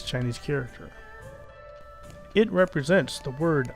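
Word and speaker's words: 我: It represents the word I, or me, but there's nothing about the character that would let you figure that out just by looking at it.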